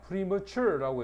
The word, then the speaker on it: premature: premature라고 해서 강세는 요래됩니다. 요 단어의 강세가 여기에 있어. 뒤에가 있단 말이야.